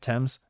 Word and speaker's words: Thames: let's go i know the river thames right that's how you say it thames um westminster is that